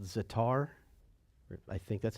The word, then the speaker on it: za'atar: Today, they actually have a spice called za'atar.